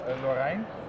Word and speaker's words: Lorrein: In Dutch it is Lorrein. Lorrein? In German it's Lorrein. Lorrein. Lorrein? In German it's in French it's more like a Lorrain.